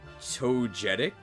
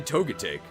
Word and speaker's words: Togetic: Imagine pronouncing it totic. Who says it? Who says it this way? Not me, right? I say toic.